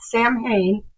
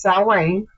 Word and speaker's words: Samhain: and yes, it's not Samhain, it's Samhain. There's a Celtic word, and that is how it's actually pronounced.